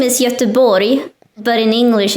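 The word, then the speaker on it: Göteborg: yes i'm sorry did you know that it's pronounced yatabori in swedish it's not gothenburg i didn't but i knew that i mispronounced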